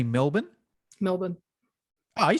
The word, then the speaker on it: Melbourne: in australia we say melbourne you know we don't pronounce our we say perth you know we don't pronounce the r but americans pronounce it so say say melbourne melbourne oh you said that